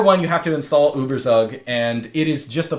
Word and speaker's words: ueberzug: Firstly, the program that generates the image previews is ueberzug, which in America we pronounce ueberzug.